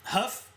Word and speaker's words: Hough: But Huff. That word, the way that's spelled, that's ridiculous.